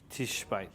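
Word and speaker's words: תשבי: The Shiva is silent. yeah, the Shiva, yeah. Tishbite. Tishbi. Yep.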